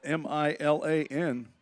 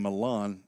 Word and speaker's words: Milan: It's spelled M-I-L-A-N. That is the way you would pronounce a girl's name, Milan. That's not Milan. That's the name of a town in West Tennessee.